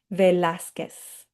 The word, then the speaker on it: Velázquez: So if you missed that this first time around, let's practice these again and make sure that you're not just saying que, but you're also saying S at the end. Vasquez, Velázquez, Quiros.